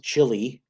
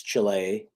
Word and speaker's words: Chile: know this is chile people pronounce the chili but it's chile suppose this is all